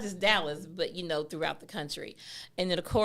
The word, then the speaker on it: Dallas: And the sister said she was from Dallas. So, I know she's from Dallas because she said it right, Dallas. Not Dallas, but Dallas.